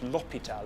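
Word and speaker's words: hôpital: next feature is that the H in French is silent it's silent when you speak French not lopital with an H pop it out in French so if you want to do a French accent drop your H's let's try this phrase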